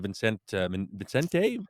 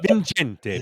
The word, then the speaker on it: Vincente: I think it's Vincente. Yeah. Okay, In, Vincente in Minnelli. Italian, because I lived in Italy for a while, it'd be Vincente. But I don't Vincente.